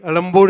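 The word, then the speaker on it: Ezhumbur: Chennai, Alambur is the correct way to pronounce, right? Anybody from Tamil? Vanakkam, sir. Alambur is the right way? Not Egmore, na?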